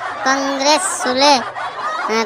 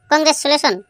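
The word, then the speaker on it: Congratulation: বলছি স্যার ওটা আছে লেখা আছে কংগ্রেস কংগ্রেস কংগ্রেস চুলে কংগ্রেস চুলে শোন কংগ্রাচুলেশন স্যার ওটা আছে কংগ্রাচুলেশন তোরটাও হয়নি তোরও আজকে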